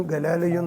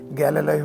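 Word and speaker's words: Galileo: കഥകൾ മാത്രമാണ് കാരണം അവനും ഗലാലിയയും തമ്മിൽ ഗലീലിയോ എന്നല്ല അതിന്റെ ഉച്ചാരണംട്ട അതുകൊണ്ടാണ് ഗലോയോ എന്ന് ഞാൻ പറയുന്നത് ഗാലോയും തമ്മിൽ ഒരു പുലബന്ധം പോലുമില്ല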